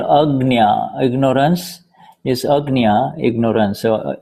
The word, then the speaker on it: Agnya: Agnya. Because otherwise, if I use the word agnya, porque lo contrario, si yo utilizo el término agnya, people will confuse it with agna, you see.